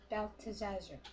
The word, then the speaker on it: Belteshazzar: How do you pronounce his name? Belteshazzar.